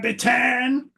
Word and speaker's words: Bittan: Everybody always gets down on me when I say his name like that. But hey, don't shoot the messenger. You go see Bruce live. That's how he introduces him. Roy Bittan. Everybody's like, no, you pronounce it Bitten. Well, tell Bruce that, because he's been saying it wrong for decades, right?